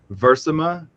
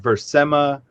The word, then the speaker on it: Versima: And the pronunciation, I've always pronounced it Versima. Okay. And then other people have come and pronounced it Versema, and I liked that too. Like, there's no really wrong or right way to pronounce it, but I guess I